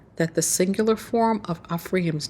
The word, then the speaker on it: Ephraim: And so all together, with the letters put together, this word in the Paleo Hebrew is pronounced Ephraim. Ephraim.